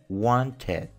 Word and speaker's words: wanted: Cuando un verbo termina con una T o con una D y le agregamos ed al final, la pronunciación del verbo va a ser igual, pero con un sonido id al final.